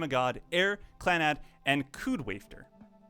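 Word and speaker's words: Kud Wafter: Rewrite, Canon, Little Busters, Planetarian, The Day I Became a God, Air, Clanad, and Koodwafter, or Wafter, is probably more accurate in how you pronounce that.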